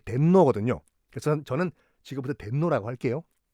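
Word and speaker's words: 天皇: 그래서 그들이 부르는 천황의 일본식 발음이 덴노거든요.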